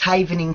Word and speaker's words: Havening: learn about it and if I am I mispronouncing it what is havening technique am I saying that correctly yes that's correct it's havening technique okay the original event havening method effectively